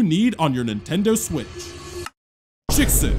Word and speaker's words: JKSV: Chicks, that's how you say it.